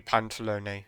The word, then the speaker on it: Pantalone: Right, I thought it might be Pantalone. Okay, that is the pronunciation then.